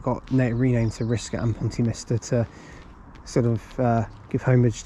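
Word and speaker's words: Pontymister: I thought it was Minster, it's Mister, Pontyminster.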